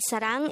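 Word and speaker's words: 사랑: the first syllable is the second syllable is pronounce it with me the word sarang is the korean noun for love again this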